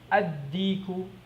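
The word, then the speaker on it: الديك: Ad-diku.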